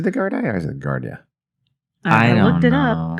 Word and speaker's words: Gardaí: Is it the Gardaí or is it Gardia? I looked it know. up. Gardaí. It's pronounced that?